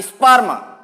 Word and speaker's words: स्पर्म: जैसे ये मैंने लिख दिया, इसको पढ़ते हैं स्पर्म। ई की ध्वनि इसके साथ में आती है, स्पर्म।